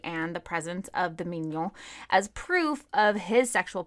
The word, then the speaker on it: mignon: Yes, but it's spelled differently, and it's pronounced mignon.